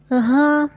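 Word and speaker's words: ح: ஹா இது ஜீம் ஹா ஹா நடுத்தொண்டையில இருந்து வெளியாகணும் சரிங்களா நம்ம கொஞ்சம் காரமா ஏதாவது சாப்பிட்டா ஹா அப்படின்னு உச்சரிப்போம் இல்லைங்களா ஹா அப்படின்னு ஹா உரைக்குது காரமா இருக்குது அப்படின்னு சொல்லுவோம் இல்லைங்களா அந்த மாதிரி ஹா இது ஹா இது லேசா கார்ற மாதிரி உள்ள உச்சரிப்புல வரும் ஹா தால் தால் ரா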